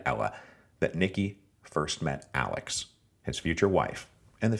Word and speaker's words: Alix: after her mother and that name Alex was just the German approximate pronunciation of the English name Alice and it always makes